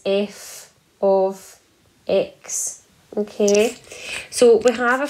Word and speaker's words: f(x): we pronounce this but f bracket x we say that as f of x okay so we have